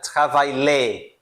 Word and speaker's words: travail: Por que que eu pulo esse LL, né? É justamente isso, tá? Quando eu tenho esse I L, geralmente vai ser I L L L E, vai ser essa combinação aqui, eu vou pronunciar I, I, como la família, la família, tá?